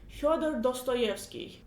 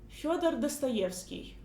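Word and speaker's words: Фёдор Достоевский: I say his name like Fyodor Dostoevsky. In Russian I would say like this, Fyodor Dostoevsky.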